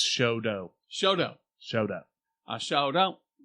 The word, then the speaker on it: Chouteau: It's Choteau.